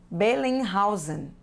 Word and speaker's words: Bellinghausen: o nome estrangeiro mas a pronúncia é igual a nossa as letras se pronunciam na mesma forma Ingred bellinghausen as facções finais são